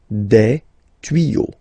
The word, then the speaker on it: tuyaux: Okay, des tuyaux. Same rule, you don't pronounce it. Des tuyaux.